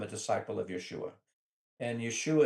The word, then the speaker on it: Yeshua: And Yeshua is actually the correct Aramaic pronunciation of his name.